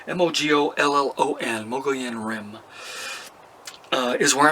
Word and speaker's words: Mogollon: Michael in a room Mogo en rim I got corrected I'm a pronunciation mo gol ello and Mogollon Rim is